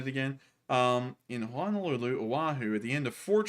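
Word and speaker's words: Oʻahu: about it so how is it again oh Oahu Honolulu Oahu at the end of Fort Street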